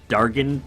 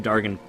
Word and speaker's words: Dargyn: what it is is killing five Dargan pilots I believe this way it's pronounced five Dargan pilots in the plains